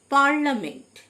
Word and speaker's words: parliament: পার্লামেন্ট, PARLIAMENT, পার্লামেন্ট, এই আই লেটারটি silent থাকে মানে সংসদ।